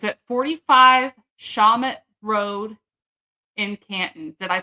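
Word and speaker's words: Shawmut: It's at 45 Shamut Road in Canton. Did I pronounce that correctly?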